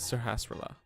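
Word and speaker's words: Sahasrahla: From now on, I will not pronounce his name correctly. But it is Sahasrara.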